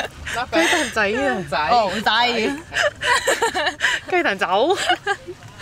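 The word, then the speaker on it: 雞蛋仔: Gai dan zao. Gai dan zai. Oh, zai. Gai dan zao. Gai dan zao. Okay. I did it without thinking. Gai dan zai. Yeah, better.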